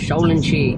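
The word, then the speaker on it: 少林寺: பாருங்க ஃபுல்லா ஹில்ஸ்தான் சுத்தி இவங்க இதை வந்து ஷவ்லின் ஷி அப்படின்னு உச்சரிக்கிறாங்க சவுலின் ஷேப் என்ட்ரன்ஸ் சூப்பரா இருக்கு ஹில் சூப்பரா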